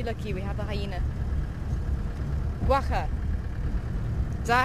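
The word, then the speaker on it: quagga: back the extinct guaca guaca it's pronounced guaca I always I always struggle with that one ooh lucky lucky we have a hyena guaca is that how you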